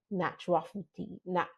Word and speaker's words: naturopathy: What are some of the challenges that you face, right, in practicing naturopathy? Pronounce it for me again. Naturopathy.